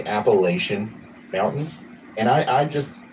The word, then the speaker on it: Appalachia: I hereby declare that the correct way to say Appalachia is Appalachia think of a think of a I'm throwing an Apple at you right not Appalachia and the way to prove